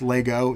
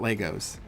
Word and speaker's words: Lego: starts with lego and it's lego not legos get it right lego is how you say it there's no s but um yeah i